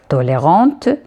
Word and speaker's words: tolérante: Tolérant, pour la prononcer le T, on va dire tolérante.